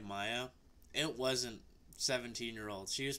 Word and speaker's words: Maja: It's Maya. Yes, it says Maja, but she's one of the youngest.